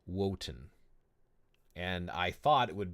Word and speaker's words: Wotan: It's interesting, but yeah, that's not the case with Wotan. Apparently, they would still pronounce the W, which I thought is interesting.